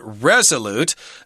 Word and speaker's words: resolute: we've got the word Resolute uh with the accent on the first syllable Resolute that means you